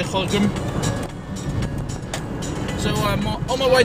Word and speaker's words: Gorinchem: I'm on my way to Gorinchem, or Gorinchem, depending on where you live in the Netherlands, yeah, how you pronounce it. Anyway, I always tend to say Gorinchem.